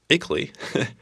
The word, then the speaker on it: ICLEI: ICLEI, pronounced as ICLEI, was really spelled I-C-L-E-I, is an international association of local governments that have made a commitment to sustainable development.